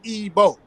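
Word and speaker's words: Igbo: coming out of Europe so they don't know how to pronounce EO you see what I'm saying it's simple as as ebo right right now and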